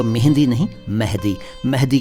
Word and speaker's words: मेहदी: है पहले इसका उच्चारण कई लोग इसको मेहंदी कहते हैं एक पाकिस्तानी सिंगर गजल सिंगर थे मेहंदी हसन कहते थे लोग उनको वह मेहंदी नहीं है मेहदी हसन नाम था उनका मेहदी उर्दू में